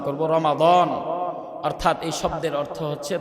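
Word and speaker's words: رمضان: এজন্য আমরা শব্দটাকে সংশোধন করে সঠিক উচ্চারণ করব রমাদান।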